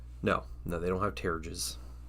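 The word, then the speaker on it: pteruges: all the like tassel things, which not a lot of them have, but Oh, they have Paterges? no, they don't have terrages. You pronounced a P like in pterodactyl.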